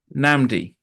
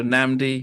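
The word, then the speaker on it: Nnamdi: Namdi. Namdi. Yes. So the first So the so the first N is silent in in in most ways.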